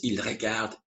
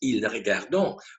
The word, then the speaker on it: ils regardent: They pronounce, for instance, ils regardent, ils regardent. And of course, that is huge implications for learning. Because if you keep having the impression that they watch, ils regardent is pronounced ils regardons, when you hear it,